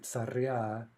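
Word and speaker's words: царя: So we saw, for example, that tsar, the genitive is tsarya, and that, right, tsarya is telling us that that's an in stressed masculine noun.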